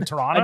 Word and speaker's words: Toronto: There's no second T. It's always just Toronto. They go Toronto.